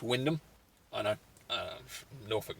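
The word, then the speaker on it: Wymondham: seven going from norwich and from windham actually why mont ham it's uh it looks like but it's actually pronounced windham i know norfolk names uh going to just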